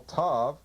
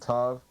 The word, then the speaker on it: tav: T, at the outside, the external level, tav, pronounced T, TH, TH, S. It could also have sometimes a TSE sound or an ST sound.